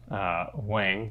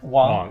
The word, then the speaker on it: Wong: Wang, is that how you say it? Dr. Wang? It's okay. I butchered it. Sorry. Is it Wang? Wong.